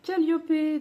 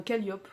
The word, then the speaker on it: Calliope: Puisque j'aimerais lire Calliope, donc, enfin Calliope, je sais pas pourquoi je dis Calliope, je pense que j'ai encore la prononciation anglaise en tête à cause de Southern Ships.